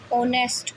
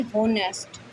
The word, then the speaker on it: honest: जैसे HONEST, ऑनेस्ट पढ़ेंगे, इसके ना कि होनेस्ट, ओनेस्ट। इसमें एच क्या है, साइलेंट है।